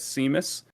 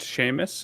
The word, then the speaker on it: Seamus: correct me i guess we americans just read it as seamus but it's pronounced sheamus and i know it